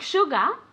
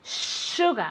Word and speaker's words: sugar: You spell it S-U, but you pronounce it as if it were S-H-U, okay? Sugar, as if it were sugar, okay?